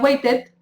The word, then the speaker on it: waited: Wait, no sería waited, ended. ¿Ok? If you can see that the pronunciation is like an I.